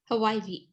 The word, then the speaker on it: Hawaii: and then hawaii hawaii hawaii wait okay hawaii hawaii just turn the w into a v ha yep that's how